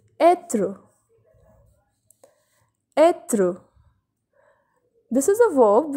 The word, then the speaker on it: être: But when this accent circonflexe comes on E, here with this letter the pronunciation changes and it's the same as accent grave. The sound is A in this case. So the example is être.